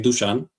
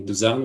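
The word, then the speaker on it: Dušan: forget Uh my uh how you pronounced my name is actually Duchan. Duchan. Okay. But all the all the native English speakers call me Duzan, which is fine.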